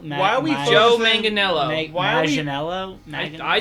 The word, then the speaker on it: Manganiello: His Joey Why are we focusing- Matt Manganello. Why are we Joe focusing- Manganiello.